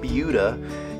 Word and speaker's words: Buda: hey everyone Justin Coffield here I'm in bua Texas I know it's spelled Buddha but it is pronounced bua in the sunfield community uh this is a